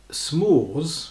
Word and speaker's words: s'mores: i can't remember exact notes of s'mores s apostrophe m-o-r-e-s and i had no idea what that was well apparently according to the the wonderful internet it's s'mores if that's what that's how you say it it's a sweet